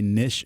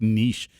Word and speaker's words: niche: the law and and that word I always want to say nish and then some told me it's like niche and so I never